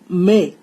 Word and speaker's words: mes: MES is pronounced as may. May means my.